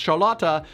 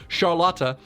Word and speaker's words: Charlotte: characters whose name is spelled charlotte but it's pronounced charlata i got sharlata on the brain okay sure